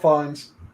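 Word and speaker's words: Fiennes: the implications of something sorry Ralph findes not Rines Ralph FES I said his name wrong yeah but yeah it's Ralph fines and it's the one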